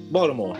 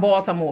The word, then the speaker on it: Baltimore: here Marland from from Baltimore Baltimore we say Baltimore they say Baltimore oh okay we say a d we pronounce it with a D I appreciate it so